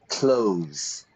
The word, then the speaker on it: clothes: my pronunciation clothes, not clothes or anything like that really. It's like I open the door, I close the door. In the morning, I put on my clothes. It's exactly the same pronunciation.